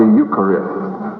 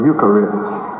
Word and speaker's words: Eucharist: receptacle for the consecrated element of the ukari the consecrated element of the Eucharist how many have never heard about ukar is spelled EU c h a r i s